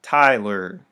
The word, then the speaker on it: Tyler: giving the thumbs up my name is tyler stress on the first syllable unstress on the second most names in english